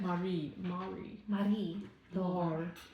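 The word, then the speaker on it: Marie-Laure: It's a French. Yeah. It's we looked it up. It's like Marie. Lore. Yeah.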